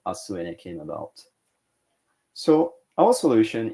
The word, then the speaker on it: Asuene: And Asuene, you can remember the name by breaking it down into two parts. Asu in Japanese means tomorrow, is also a Japanese pronunciation of earth, with ene being the short form of energy.